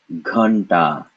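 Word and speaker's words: घंटा: And so this is ghanta, ghanta. Remember, we don't want to leave off Mr. Ugly Duckling. So the first syllable is gha, followed by an N sound pronounced the same way as ta, ghanta.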